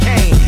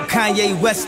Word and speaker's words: Kanye: Now all I need is y'all to pronounce my name. It's Kanye, but some of my plastic still say Kane.